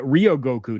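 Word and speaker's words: Ryōgoku: the stadium you're talking about okay yeah Rio Rio Goku not Ry okay yeah Rio Rio Goku uh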